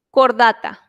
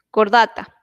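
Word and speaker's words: Chordata: Filo, cordata. Esta H se pronuncia como muda, la H, cordata.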